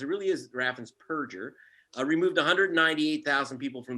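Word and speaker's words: Raffensperger: family show um but scumbag whose name is raffen's purger not burgers people mispronounced it really is raffins perger removed 198 000 people from the voter rolls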